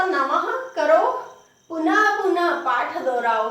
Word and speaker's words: नमः: नमस्कार करते तो नमः, नमः बोलते, गुरुवे नमः बोलते कि नहीं बोलते, तो नमः के पीछे पहला तो प्रातः, फिर नमः। उच्चारण ह के जैसा होता है पर बिंदी का उच्चारण भी ह जैसा होता है।